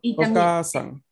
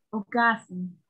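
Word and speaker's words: お母さん: Aquí el punto es la A que tiene que ser larga. Ok. Uh-huh. O sea, Ocasan. Ocasan.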